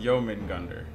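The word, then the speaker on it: Jörmungandr: It's pronounced Jermungandr.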